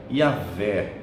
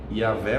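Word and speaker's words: יהוה: A pronúncia mais próxima, muitos estudiosos dizem que seria Yahvé, né?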